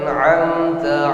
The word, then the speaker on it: an'amta: Siratal ladzina an'amta 'alaihim, sama-sama. Siratal ladzina an'amta 'alaihim. Jangan seolah-olah bacaan diseret ya, an'amta. Terkesan nunnya menjadi pantulan. An'amta, an'amta. Itu lafaz atau cara membacanya yang benar.